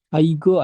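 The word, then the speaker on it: 아이고: Aigo, Aigo aja. Aigo. Tadi apa? Kan aku tadi bilang kalau di tengah nggak berubah bunyinya.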